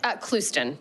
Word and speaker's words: Clouston: Did I pronounce that correctly? You did, Clouston, but close enough.